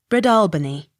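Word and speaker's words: Breadalbane: b a n e bred albany accent on second syllable b-r-o-u-g-h-a-m broom b-u-c-h-a-n bucken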